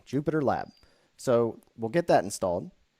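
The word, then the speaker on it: JupyterLab: going to be uh Jupiter lab and this is spelled uh j u p y t r l a b Jupiter lab so we'll get that installed now I'm not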